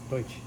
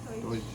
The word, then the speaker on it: Deutsch: Deutsch. Deutsch.